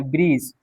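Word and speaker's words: bridge: जी से पहले क्या है, डी है, यहाँ पे डी क्या हो जाएगा, साइलेंट। बी आर आई जी पढ़ेंगे, ब्रीज, डी ब्रिज नहीं पढ़ेंगे, ब्रीज पढ़ेंगे, क्या पढ़ेंगे,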